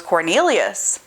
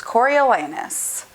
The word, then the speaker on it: Coriolanus: entire life of me, I thought that his name was Cornelius, and it's not. It's Coriolanus.